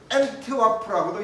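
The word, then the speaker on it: Antwerp: 안트베르펜, 엔트와프라고도 이야기합니다. 안트베르펜은 독일식 발음인 것 같고 안트와프는 영어식 발음인 것 같아요.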